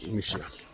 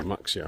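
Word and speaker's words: Muxía: Yeah, Muxia, which I've been pronouncing Muxia up until recently, is our end point.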